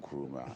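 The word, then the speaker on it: Nkrumah: ideals and principles of uh the late Kruma. Dr.Wam Kruma he's how do you pronounce that Dr.Wam Kuruma and uh it's nice uh talks about panafricanism,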